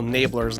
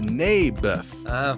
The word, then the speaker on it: Naboth: I like this little Nablers guy. You mean Naboth? Yeah, that's what I said. Mayberf. I think you're saying it wrong. His name was Naboth.